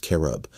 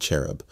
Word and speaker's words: cherub: not valid in English the word should be pronounced carob with a Q sound not cherub with a soft cheat although most English-speaking dictionaries